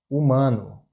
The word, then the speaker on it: humano: The letter H is not, it doesn't have a sound in Portuguese. For example, humano, humano. It's not pronounced. We don't say human. We don't have this sound for letter H.